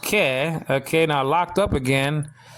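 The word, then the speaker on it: καί: Greek word kai, nowadays pronounced ke.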